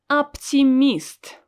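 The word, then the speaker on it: оптимист: we have a word optimist optimist again i don't pronounce o s o i pronounce it as a because it's not stressed optimist optimist try to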